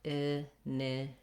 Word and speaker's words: initiative: And then you've probably been hearing me say div rather than tiv. American English, we use a flap for a T that is in the middle, not followed by a stress syllable. So I rewrote it here as a letter D because we do the same thing, using a flap for D in the middle of words.